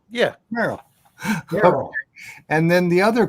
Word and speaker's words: Merrill: Merrill. Yeah. Merl.